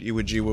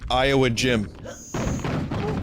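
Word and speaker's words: Iwo Jima: haven't seen the Eastwood iawa movies or as my friend s used to pronounce it Iowa gym oh my God I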